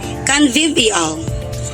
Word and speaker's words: convivial: So this word is spelled as C O N V I V I A L. Do you know that the word has four syllables and the word pronounced as canvivial or canvival?